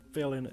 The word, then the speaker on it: Phealin: be Phealin Phriday because they're both spelled PH and Phealin is pronounced F, not P.